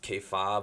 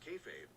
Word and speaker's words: kayfabe: pronounce it now i don't know i always pronounced k-fob because i just wanted to be like obnoxious